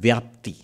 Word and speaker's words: vyapti: He brings in a term called vyapti.